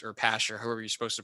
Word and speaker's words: Pache: Like, How's Pache?